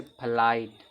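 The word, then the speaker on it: flight: अब यहां देखो सातवां रूल है जब किसी वर्ड में आई के बाद जी एच टी आए तो जी एच साइलेंट होता है और आई का उच्चारण आई निकलता है। जैसे फ्लाइट फ्लाइट में देखो आई का उच्चारण आई निकला है ना फ्लाइट का कारण उड़ान होता है।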